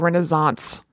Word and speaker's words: Renaissance: Renaissance. This came up on the show once before. There was some other word where it's an S, but you say it like a Z.